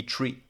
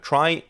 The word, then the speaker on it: trie: r i e and it actually comes from the word retrieval which means that the original correct pronunciation would be tree now why do we call it try mainly to distinguish it